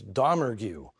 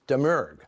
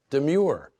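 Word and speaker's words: Domergue: her the mystery has always been how to pronounce her name which I long thought was dgu only to learn that in the Creole culture she comes from it's deur she insisted however it'd be pronounced demure one thing is for sure she could top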